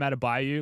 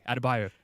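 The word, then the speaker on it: Adebayo: on bam atab bio who by the way scal can't say his name it's bam atab Bayou like Credence bought on the biou pronunciation like surely is there not a producer in his ear being like adab bio adab bio his name is adab bio like he's also been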